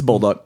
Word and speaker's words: Bolduc: It's Bolduc.